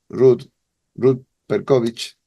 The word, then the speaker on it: Ruth Percowicz: la tradición hebrea, pero en el caso tuyo, Ruth Perkovich, lo pronuncio bien, Ruth, ¿no?